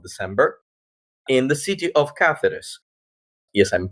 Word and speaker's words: Cáceres: the 1 of December in the city of cathis yes I'm pronouncing it with this C notice I avoided